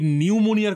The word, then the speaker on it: নিউমোনিয়া: দিন, আপনি বরং এই নিউমোনিয়ার কথাই ধরুন। বলবার সময় বলি নিউমোনিয়া, অথচ লিখবার সময় লিখি পি নিউমোনিয়া। এই নাকের ডগায় পিটা দেওয়ার কি কোনো দরকার আছে বলতে পারেন? উচ্চারণেই থাকবে না, অথচ স্থানে থাকবে।